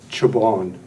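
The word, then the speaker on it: Czaban: I didn't catch it my name is chabon and it's spelled Charlie Zulu alpha bravo Alpha November thank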